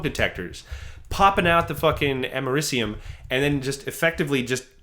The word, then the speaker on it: americium: For instance, every smoke detector has a traces amount of americinium. Am I pronouncing that right? I can never... Americium? Americium, thank you.